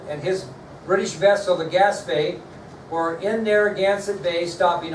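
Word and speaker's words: Gaspee: William Duddingston was commanding a vessel called the Gaspé, although it's not spelt like that, but that's how it's pronounced.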